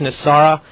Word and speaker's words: NESARA: It's been, in its acronym, it's pronounced NESARA, and what she can share today can fill